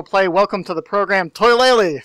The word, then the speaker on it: Toilailee: And I've heard them all, like Toilailee, Toilailee, Willy Lily, even Toilet. Just deal with it. How do you intend it to be pronounced yourself? Toilailee.